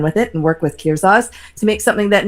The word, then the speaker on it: Kirzaz: Am I That's right, pronouncing that Kirzaz.